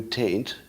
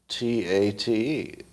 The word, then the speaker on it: Tate: Andrew Tate, T-A-T-E. If you do that, your digital devices will recognize it. Now, I don't think it would have given me the correct answer if I had pronounced it incorrectly. So you can tell now that your human ears are being fooled, but the digital device can hear accurately when I say Tate, T-A-T-E.